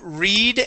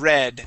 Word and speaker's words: read: with this verb sure it's it's the same with read and read so past tense would be read okay okay than you